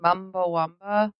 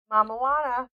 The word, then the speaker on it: Mamajuana: Maybe, or it was just the how do you say it? Mumbawamba? Mamajuana. Mamajuana. I don't know why I keep calling it. It's like I'm mixing it with Chumbawamba, like the band.